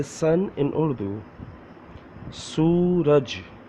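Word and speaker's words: سورج: Suraj, Suraj. How to say Suraj? Let me pronounce alphabets.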